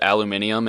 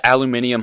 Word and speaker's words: aluminium: I heard some British dude pronounce it aluminium, and now that's just how I do it.